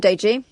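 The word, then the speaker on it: Deji: So I basically said to uh your researcher to um say it like you know when you say day Monday Yeah. day and then the letter G.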